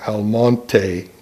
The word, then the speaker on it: Almonte: now Almonte was one Almonte is the proper pronunciation of the word with the Spanish equivalent of the ax I'll